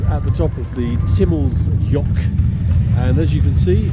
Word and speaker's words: Timmelsjoch: So we've done the Timmelsjoch, correct pronunciation apparently.